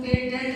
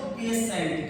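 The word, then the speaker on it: patient: तुम्हारा आईई आया है इसको हम पेटेंट नहीं पढ़ेंगे क्या पढ़ेंगे इसको पेसेंट क्या पढ़ेंगे या ये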